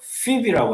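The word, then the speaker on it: Phoebe: 여러분, 베베를 영어 발음으로 피비라고 합니다. 피비.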